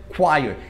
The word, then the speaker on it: choir: Olha como é que escreve, escreve choir, mas só que a gente pronuncia choir. Imagina você lendo um texto que tem a palavra choir. Você vai ler choir com certeza, você nunca vai lembrar que essa